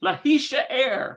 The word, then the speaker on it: להישאר: But getting that pronounced correctly is a tough one. I think it's lehashi'ar. להישאר. Lahishaer. להישאר. להישאר.